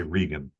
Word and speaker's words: Reagan: So, my name is spelled like the president, Reagan, but I say Rean.